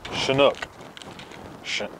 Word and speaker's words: Chinook: four now hops in Chinook I guess that's how you pronounce it it's almost like this Chinook helicopter CH I in oh